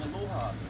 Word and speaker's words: aloha: to you guys but the only way to say allah is the short brief and warm and loving aloha can i tell you